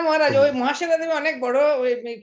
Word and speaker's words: মহাশ্বেতা: মহাশ্বেতা দেবীর লেখা বই, মহাশ্বেতা দেবীর লেখা বই 1084। মহাশ্বেতা দেবী, মহাশ্বেতা, মহাশিবা নয়, মহাশ্বেতা দেবীর মহাশ্বেতা দেবী বলেছেন।